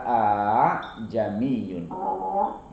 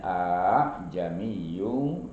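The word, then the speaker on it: أأعجمي: Itu hamzahnya itu kan ada dua ya, ada dua itu a jamiyun itu dibacanya a jamiyun wa arabi. Diringankan a jamiyun wa arabi, tidak a tapi a jamiyun, namanya tashil ya.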